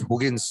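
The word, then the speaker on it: Huygens: let us dive into hughen's theory see it's pronounced as hogan's somewhat proudest hygienes he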